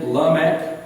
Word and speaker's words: Lamech: we speak West Virginia, Lamech. In Hebrew, the emphasis is always on the last syllable.